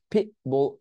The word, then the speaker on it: pitbull: pitbull witness, পি পি টি উচ্চারণ করে নেই, বুল উই, এখানে টি উচ্চারণ